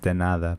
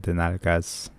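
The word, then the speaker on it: de nada: So that's not the proper way of saying it, by the way. Oh, okay. It's denada, but I said denalgas. Denagas? Yeah, it means the butts. Denalgas. Okay. But the proper way to say is denada.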